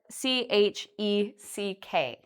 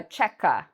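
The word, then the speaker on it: cheque: way or this way some students call this a chekka because they see this q-u-e but this is actually only one syllable we say check okay so that's some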